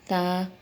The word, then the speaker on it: تا: لہجے میں ادا کریں، اردو تلفظ سے پرہیز کریں، یعنی بے، تے، سے، ہے، خے، توئے، زوئے وغیرہ یہ ہرگز نہ پڑھیں کیونکہ یہ اردو لہجہ ہے۔ عربی لہجہ با، تا، ثا، ہا، خا، تو، زو یہ ہے، اس